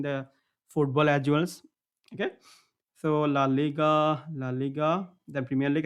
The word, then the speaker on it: La Liga: is La La League I mean it's La Liga sorry not La La La Liga so every time I to pronounce this one name I La La Liga but it's La Liga okay okay then we